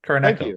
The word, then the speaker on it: Kuroneko: Since we all know I can't pronounce that. What is it called? Kuroneko? Kuroneko.